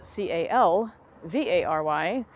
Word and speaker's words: Calvary: y it is frequently mispronounced as Calvary which is spelled c a l v a r y which is the place in Jerusalem in the